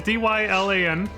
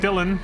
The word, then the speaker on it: Dylan: But yeah, there's two different spellings. There's D-Y-L-A-N and then there's D-I-L-L-O-N. Same pronunciation though.